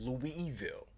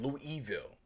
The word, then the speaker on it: Louisville: this morning so and he pronounces that louis evil he does he said lou evil so that's how bright